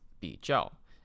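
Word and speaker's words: 比较: right Chinese word of the day it is pronounced be jel it means to compare so I can say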